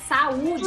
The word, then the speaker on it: Saúde: Saúde é hiato, tá bom? Saúde. O U fica o quê? Sozinho. Sozinho.